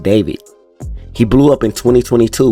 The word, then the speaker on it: D4VD: David Burke was born in Queens, New York, but grew up in Houston, Texas, and went by the stage name D4VD, pronounced David.